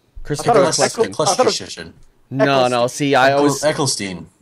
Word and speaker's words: Eccleston: Is that how it's pronounced? Correct. Christopher Eccleston.